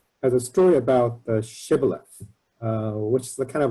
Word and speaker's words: shibboleth: hebrew dialect uh but one group cannot pronounce shibboleth as sh as a fricative they pronounce as a stepson like sybilus so people can use